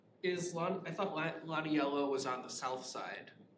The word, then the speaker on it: Lionello: So, this is the location of this underpass, and it's spelled Lionello here, but it's actually Lonnie Yellow.